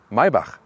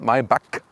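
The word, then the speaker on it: Maybach: s-class segment and mybach listen and repeat maibach not my buck because the germans they have this ch as so and the ultimate german pronunciation would be mercedes maibach that's it so now you know it and you can see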